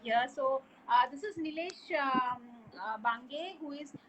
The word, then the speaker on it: Bhanage: So this is Nilesh Bange, who is Bange, right? I'm pronouncing your name. Bange. Huh? That's Bange.